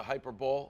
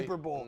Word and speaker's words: hyperbole: We gotta cut through the hyperbole. Is that how you pronounce it? Yes, we're doing the Hyperbole. Hyper Bowl. Nailed it. It's right after the Super Bowl.